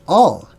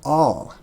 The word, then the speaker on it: El: Remember, L is also pronounced all, A-L. Now, we in our cowboy language of the West, we say al, but it's not pronounced al. It's pronounced all, right? Al-Jabbar, all, whatever other words start with all, okay?